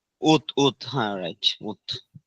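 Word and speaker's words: août: দাঁড়ান এটা হচ্ছে না ভাইয়া ভুলে গেছি উচ্চারণ এই যে উথ উথ উত উথ হ্যা রাইট উথ এটুতে ডেইজের নাম আর হচ্ছে আপনার মান্থসের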